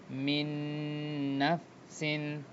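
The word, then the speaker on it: مِن نَفْسٍ: এরপর দেখেন মিউ ওয়াল, মিউয়াল ওকে, তো মার্জ হয়ে যাচ্ছে, নুন সেকেন্ড ছিল, এরপরে নুন ছিল, তো নুন সেকেন্ডের উচ্চারণ না হয়ে এটা একটা ভিতরে মার্জ হয়ে গিয়ে মিন নাফসিন, মিন মিন নাফসিন এরপরে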